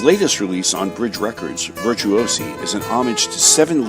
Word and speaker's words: Virtuosi: release on bridge records uh which is called virtuosi am I pronouncing that correctly that is correct okay uh